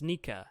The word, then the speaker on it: Nika: quiet smile and then the sound effects is pronounced nica so it's nika as in the god of sun or back